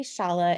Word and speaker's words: Shala: name is sham Shala it rhymes with Hala so that's it's dorky